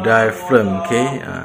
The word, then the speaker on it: diaphragm: Diaphragm, pronounce yang betul ialah diaphragm, okay?